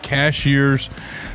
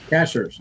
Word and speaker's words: Cashiers: uh just outside of Cashiers, North Carolina. Am I saying that right? Cashier. Cashers. Cashers. Cashers. Got it. Got it. Got it. It's spelled cashiers.